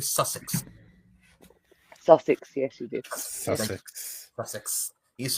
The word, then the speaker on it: Sussex: think we did that offer already did I pronounce that correctly Sussex susex yes you did he's from Brighton yes